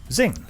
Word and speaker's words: XING: of course, we're talking about XING, which is hopefully the pronunciation they're going for. It is absolutely the pronunciation they're going for, Right. with an inference to the word crossing.